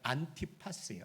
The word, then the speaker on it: 안티파스: 다른 책들을 이렇게 참조해 보면 이 안디바라는 이름을 헬라어 그대로 이렇게 그 발음하면요, 안티파스예요. 안티파스.